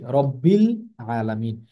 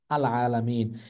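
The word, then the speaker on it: رب العالمين: শব্দের সঙ্গে মিলিয়ে পড়ছি তখন কিন্তু আলিফটা আমরা উচ্চারণ করছি না আমরা কি পড়ছি রব্বিল আলামিন কিন্তু আপনি যদি শব্দটাকে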